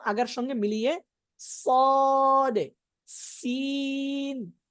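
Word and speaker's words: ص: উচ্চারণ করার সময় কিন্তু যে সুয়াদ সুয়াদ এরকম বলা যাবে না, যাবে যাবে না, না, ঠোঁট ভুল হবে না। স স সদে সদে।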